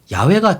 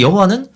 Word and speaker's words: 야훼: 아이 대체하여 사용하기도 하였습니다 다만 다서 히브리 언어학자들은 야외가 정확한 발음의 가까울 것이라고 추정하고 있으며 그 비에 영화는 사실 성공과 전혀 관련이 없는 단어라고 볼 수도 있습니다